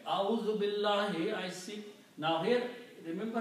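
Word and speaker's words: بالله: But in this case there is a kasra. So it should be billahi.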